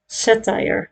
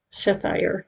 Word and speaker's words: satire: The second syllable sounds like wire. Satire. Ah, yeah. We say sautira here in Netherlands. Satire.